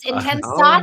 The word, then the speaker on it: Intensati: And then she's also hosting virtual, I'm hoping I pronounced this right, Intensati classes. Yes, Intensati.